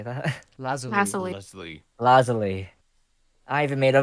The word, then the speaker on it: lazuli: Lazuli.